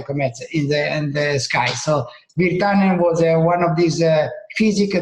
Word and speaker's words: Wirtanen: Wirtanen?